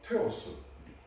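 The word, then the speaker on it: θεός: 주장에 따르면 헬라의 그 문법 구조상 일반적으로 호 테오스음 여기 제가 부득이 이렇게이이 이게 지금 헬라 인데요이 단어가 테오스 아고 발음 하는데요 테오스 하는 것은 그 하나님이라는 뜻입니다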